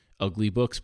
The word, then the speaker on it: uglybooks: No, just say it like ugly books.